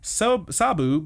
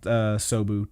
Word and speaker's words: Sabu: We see Old Man Tanaka and Sabu. It is Sabu, not Sobu. Damn it. Not Sabo is what I kept saying. It's Sabu.